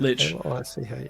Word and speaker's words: Lich: How do you pronounce that? Lich.